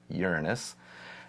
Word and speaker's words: Uranus: missions to Jupiter Saturn Uranus that's how it's pronounced folks Uranus Neptune in the 1980s Dr Porco leads the